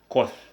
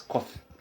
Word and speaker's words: coth: It is pronounced as coth. You pronounce it as coth.